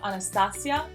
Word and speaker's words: Anastasia: the name Anastasia now the way you pronounce it would be different in fact I would like it in a Spanish pronunciation so Anastasia I like the way